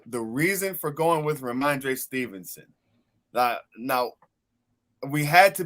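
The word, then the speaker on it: Rhamondre: Ramondre. It say R. I was like, how you say it again? Ramondre. Ramondre Stevenson.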